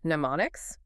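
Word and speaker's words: mnemonics: We're focusing entirely on pneummonics, which is pronounced pneummonics. The M is silent.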